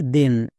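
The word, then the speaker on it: then: এর উচ্চারণ আমরা থেন করি না। এর উচ্চারণ হয় দেন।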